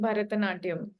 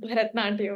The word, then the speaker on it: Bharatanatyam: So you mentioned about learning Bharatanatyam. Firstly, it is pronounced as Bharatanatyam and not Bharatnatyam, right?